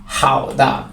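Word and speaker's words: 好的: জন্য খুবই এখানে চমৎকার প্রমদভাবে আমি এখানে বাংলা উচ্চারণটা দিয়ে দিছি খুব সহজভাবে ধরতে পারবেন হাউ দা মানে ঠিক আছে হাউ দা মানে ঠিক আছে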